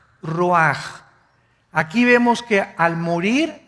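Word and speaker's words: רוח: El ruaj que se escribe r u a c h. Ruach en el hebreo y se pronuncia igual ruaj.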